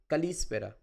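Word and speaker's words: καλησπέρα: So, you can see that spera. So, this is the emphasized portion. So, good evening. Evening is spera. Kalispera.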